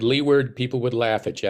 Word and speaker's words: Leeward: Is it Leeward or you pronounce it Leeward?